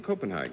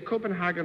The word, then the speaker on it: Copenhagen: the world your mother runs one in in Copenhagen that's right do you say Copenhagen or Copenhagen Copenhagen and Copenhagen is incorrect or